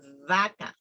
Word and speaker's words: vaca: B and with V, because they pronounce the same. For example, for cow, we say vaca. That is how you need to pronounce vaca. But in Latin America, they say vaca.